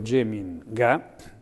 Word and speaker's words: Geminga: gli ho attaccato dietro Geminga, pronunciato all'olandese perché ero in Olanda, con la G2 diventa Geminga, che in milanese vuol dire non c'è, Geminga.